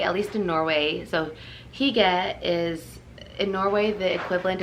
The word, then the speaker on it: hygge: gets pronounced hygge or hyuga but it's at least in norway it's higa so it's like you're saying higa but with an e sound put your lips out for higa just just so you're